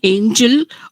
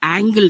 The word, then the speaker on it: angel: actually pronounced as fallen angel or angel of the house. So he said angle.